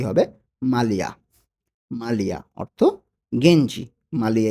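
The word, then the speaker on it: maglia: মালিয়া এখানে জি এর উচ্চারণটা কিন্তু হবে না।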